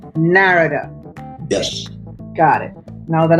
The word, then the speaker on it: Narada: they totally to the east so the correct pronunciation is narrator narrator yes got it now that I know what